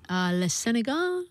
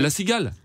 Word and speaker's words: La Cigale: La Sénégal, is that how you say it? La Cigale. La Cigale. La Cigale. Yeah. La Sénégal. La Cigale. J'adore.